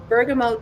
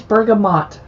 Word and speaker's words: bergamot: doesn't that sound good i love that you pronounce it bergamo i do too and some people try and correct me and say it's bergamot well it's no it's not my family's from bergamot italy so no so you